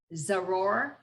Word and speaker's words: Zuror: So the surprising, and I think it's pronounced Zuror. Zuror, yes.